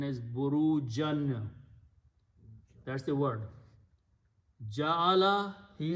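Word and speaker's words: بُرُوجًا: Wow means and and he he also placed, so burujan will be pronounced as burujon.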